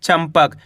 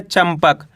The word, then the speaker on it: चंपक: चाम अनुस्वार की मात्रा चम प और का मिलकर बन जाएगा चंपक। इस शब्द के अंदर अपन आधा माँ का उच्चारण कराए, कैसे पढ़ा है? चंपक।